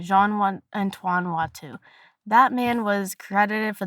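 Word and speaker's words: Watteau: Jean Antoan Watu.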